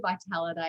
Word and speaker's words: Vitalita: to get pronunciation wrong it's actually vitality it's the italian word for vitality but yeah beautiful i'm